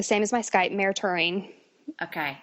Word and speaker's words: Toering: for a long time and it's spelled like tow ring yeah it is when